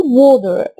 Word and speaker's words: water: مياه عندي برضو هنا A قبلها W فنقول وو. معظمنا بيقولها water. النطق الصح بقى ان احنا نخلي التي زي دي خفيفة فنقول water. نيجي بقى هنا خد قاعدة